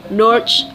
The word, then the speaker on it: Norge: word Norwegian is Norway but the local language pronounces it Norge or nor egg Norwegian has two different languages